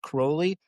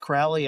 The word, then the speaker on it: Crowley: Now, somebody's going to correct us in the comments and say, "Actually, his name was pronounced Crowley." That is how his name is pronounced. But I will forever pronounce it Crowley.